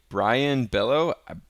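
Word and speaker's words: Brayan: is going to be Brian Bello I think that's how you pronounce that name just like a regular Brian but anyway we're gonna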